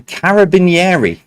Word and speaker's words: Carabinieri: Number 5, start again, and I remembered how to pronounce this. The Carabinieri, not doing the accent, is the domestic police force of which nation?